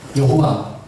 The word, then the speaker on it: 여호와: 그런 의미로 아도나이라고 하는데, 아도나이 보면 아오아이는 몸이 있잖아요. 이 몸을 이 YHW 요도해 와우해는 이 자음에다가 몸을 딱 붙였어. 그래서 발음한 것이 우리말은 여호와. 그 몸에 약간만 이동만 쓰면 야훼라고 합니다.